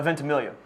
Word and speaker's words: Ventimiglia: No, Ventimiglia. You just dropped the G and say it phonetically.